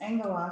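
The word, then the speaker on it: ἄγγελος: where the end is it's yeah it's angola so that's where we get angles okay okay so two gammas together give us this ng sum which is why that top word on the right hand side of the right hand column is on glass on glass and we're going to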